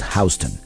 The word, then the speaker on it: Houston Street: job at that is spelled like the city of Houston in Texas but pronounced Houston Houston Street is the